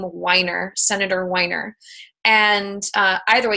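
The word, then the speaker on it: Wiener: SB 822 is by, I think he pronounces his name Weiner, Senator Weiner.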